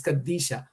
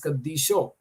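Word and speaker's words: ܩܕܝܫܐ: For example, Kadisha, which is holy in meaning, is said in East Syriac it is Kadisha. In West Syriac it is Kadisho.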